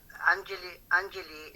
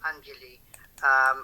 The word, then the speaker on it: Anjali: As Anjali is pronounced Anjali, although in Westerners word you might call it Anjali, but in Indian words it's called Anjali.